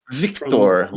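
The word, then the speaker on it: Wiktor: Victor. The W I think is pronounced like a V.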